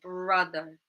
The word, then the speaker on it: brother: Where's the stress in brother? The stress is in the first syllable, bruh, bruh, okay?